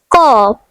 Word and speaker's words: corps: The next French word is corps, which means body. The silent letters are P and S.